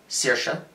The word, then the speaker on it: Saoirse: to a sister sir saoirse which by the way thank you movie for teaching me how to pronounce that name which I've only ever seen written down it's Saoirse saoirse um they get I